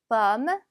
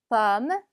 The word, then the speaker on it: pomme: pomme, pomme. 얘도 마찬가지로 오지만 마치 어처럼 발음이 납니다.